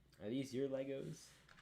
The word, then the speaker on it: LEGO: in the audience those it's not how you say it they're not legos they're lego that's a billion dollar mistake right there you know i want